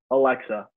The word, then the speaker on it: Aleska: I'm I feel like I'm gonna save like Alexa Alexa okay good I just I didn't want